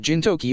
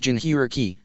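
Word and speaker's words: Jinchūriki: You said something about Jintoki or something. It's pronounced Jinhiriki, it's a word my wife invented and used to describe those with Biju sealed within them, Hashirama explained.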